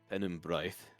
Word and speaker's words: Penumbraith: It is Welsh inspired, kind of behind it. It's Penumbraith.